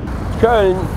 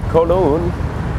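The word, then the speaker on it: Köln: Koln, and it's pronounced in the English Cologne, probably one of the oldest city in Germany.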